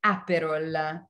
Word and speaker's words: Aperol: name of the liquor in the spritz is aperola and it is spelt a-p-e-r-o-l aperol what is the significance of